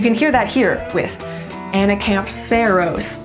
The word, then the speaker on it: Anacampseros: This little guy really well illustrates where to put the emphasis in words in Latin. And it's basically always gonna go on the second to last syllable of every word.